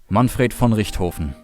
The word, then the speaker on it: Manfred von Richthofen: Oh, Manfred von Richthofen, let me say it properly one time before all the English viewers butcher it, was an actual mad lad.